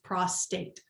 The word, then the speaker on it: prostate: they're giving you here prostate prostate is prostate they even give you the example here pros and then taped that is something men